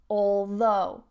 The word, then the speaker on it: although: from oh oh oh although although notice that stress on the second syllable although although it was cold